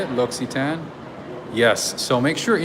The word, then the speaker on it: L'Occitane: l'occitane oh is that how you say it l'occitane yes so make sure you know whenever i